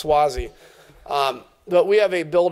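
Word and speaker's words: Suozzi: my colleague swathes what how do you say his last name Zack Swasey that's I always call him Swahili its Swasey but we have a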